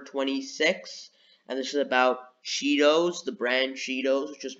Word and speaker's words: Cheetohs: Do you remember it being Cheetos or Cheetos, even though the H is silent?